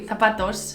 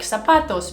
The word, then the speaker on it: zapatos: Oh my gosh, my family, when they say zapatos, shoes, they always say put on your zapatos. So they always say it with an S, but in Spanish it's with a Z.